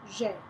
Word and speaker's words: j'ai: You pronounce it j'ai.